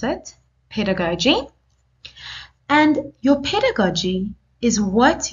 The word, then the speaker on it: pedagogy: here pedagogy I have shown you how to pronounce it pedagogy and your pedagogy is what you think and